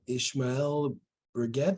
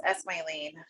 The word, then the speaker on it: Esmailene: Ishmael Brigette, the floor is yours, and I apologize if I pronounce your name wrong. It's okay. It's Esmailene.